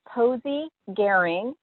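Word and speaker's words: Posy Gering: Yeah, it's Posey Garing. You spell it P-O-S-Y is her first name, and her last name is G-E-R-I-N-G.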